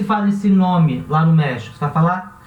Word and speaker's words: México: O nome do país, México. Esse X vai se pronunciar também com rota, México. Não vai ser México, vai ser México.